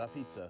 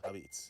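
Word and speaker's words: Apizza: This is making me want is how we pizza, pronounce dude. it, not a pizza, Abits.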